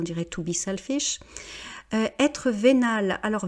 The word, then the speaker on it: vénal: Être vénal, alors vénal on met un E quand c'est pour le féminin, mais ça se prononce exactement de la même manière.